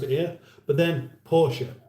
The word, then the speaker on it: Porsche: Porsche, that's how we've always pronounced it here. But then Porsche, that's how they say it there. We should say it the same. But we speak a different language.